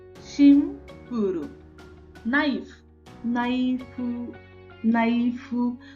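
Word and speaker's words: ナイフ: Knife, नाइफू, नाइफू। तो ई जो है उसको हमें प्रोनाउंस नहीं करना, ये भी ध्यान में रखिए।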